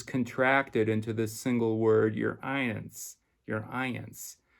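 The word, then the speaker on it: Y'reince: royal highness is contracted into the single word your ions your ions it's spelled y r apostrophe i-e-n-c-e a single word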